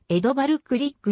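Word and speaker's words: Grieg: 作曲家である現地語での発音は江戸バルクリックに近いまた 5 月の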